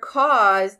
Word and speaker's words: cause: because it's voice and the e is silent so we cross that out as well so cause should look